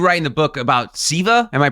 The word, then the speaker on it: Seva: And you write in the book about Seva. Am I pronouncing that correctly? Yeah, Seva. Yeah, Seva.